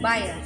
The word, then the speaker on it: Bahia: Bahia. Bahay? How do you say it? Bahia. Bahia.